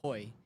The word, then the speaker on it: Hui: So but what's the right way to say it? Uh hoy hoy like hoy.